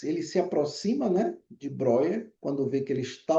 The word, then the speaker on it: Breuer: Ó, pessoal, escreve Breuer, tá? Mas a gente normalmente pronuncia Breuer, ok?